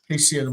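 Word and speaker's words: הסיר: And in this case, instead of he, we're going to say hey, hesir, because this is, there's nothing for it to latch on to. The syllable is not closed. There's compensatory lengthening.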